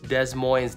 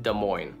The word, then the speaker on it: Des Moines: in Tucson Tucson right yo number six uh Des Moines common popular pronunciation oh it's French duh so it's a Des Moines right Des Moines Desmond noise that's what I said prevailing local preposition Des Moines I mean look look we kind of got